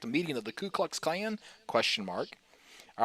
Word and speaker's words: Klux: I always thought, even if you would have asked me a week ago, I actually Yeah. thought it was Clue, KLU, Klux Klan.